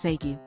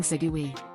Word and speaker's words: Seigyu: Nioi didn't know how to properly pronounce Seigyu, instead saying Segui.